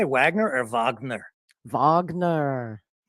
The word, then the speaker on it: Wagner: both of these yeah I think the correct spelling would be or pronunciation would be Wagner as a reference to the composer that the Nazis liked so much of course so yeah